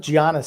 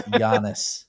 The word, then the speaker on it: Giannis: It's Giannis. I would call him Giannis. Like it's a Y. Giannis.